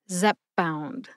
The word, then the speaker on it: Zepbound: it slowly zpp bound Zep bound it sounds a little bit to me like you soften the p in the first syllable by bringing your lips together Zep bound Zep bound